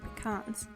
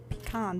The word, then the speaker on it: pecan: And while you're waiting for the oven to heat up, you can chop the pecans. And it is pronounced pecan, by the way, not pecan. That just makes me uncomfortable.